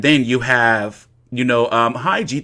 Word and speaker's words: Khegai: And then you have, you know, Khegai, the K is silent.